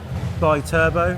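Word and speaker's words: Bitubo: Bi-turbo. Is that how you pronounce it now?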